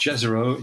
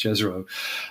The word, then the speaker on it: Jezero: And it's a place, and I think it's pronounced Jezero. It could be Jezero, but I think it's Jezero.